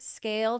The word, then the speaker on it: SCAYLE: So visit Scale today. That's SCAYLE. Yes, the Y is silent because you never have to ask why Scale isn't performing.